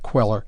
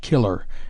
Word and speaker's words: Queller: Pettan or the life of Jack the Giant Queller, not killer, as usually erroneously written and pronounced.